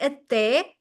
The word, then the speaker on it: até: The first accent is on top of the E to show us that we should emphasize that E, meaning this to open it, full power, até, até, and then another one